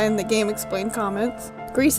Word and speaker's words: Gris: telling you all about Greece yes I pronounced it wrong in the last video thank you Chris and this random guy in the game explained comments Greece is actually Spanish not French for gray and once I found